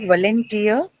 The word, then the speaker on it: volunteer: Then, yeah, how about volunteer? Volunteer, tier tier, right? It's like engineer. So on the last one, volunteer.